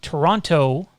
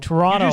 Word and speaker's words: Toronto: leafs doing toronto toronto toronto said the same exact thing and it's not the same thing it's not listen americans toronto canadians toronto canadians leave out the second t for whatever stupid reason